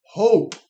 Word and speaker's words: hope: So the E is silent, but hop becomes hope.